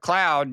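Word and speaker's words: Claude: So long as you call it cloud, no, AI is not going to help you if you don't start showing the AI some ever respect. since you taught me, it rhymes with flawed.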